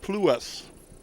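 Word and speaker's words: Pluss: L U SS and she said that's pronounced plas.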